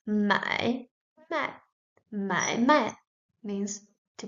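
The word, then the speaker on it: 买卖: The second has a component of the top added, and it is pronounced mai, mai, mai, mai, means to buy and to sell.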